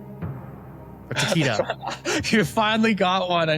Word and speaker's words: Takeda: The director of the cult classic PlayStation classic Parasite Eve was Chrono Trigger and Final Fantasy V legend Takeshi Takedo. Or Takeda.